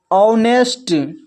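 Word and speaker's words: honest: देखिए यहाँ पर इसको पढ़ते हैं आवर, यहाँ पर देखिए एच के बाद ओ है तो एच साइलेंट है, इसको पढ़ रहे हैं आवर। फिर है ऑनर, ऑनेस्ट।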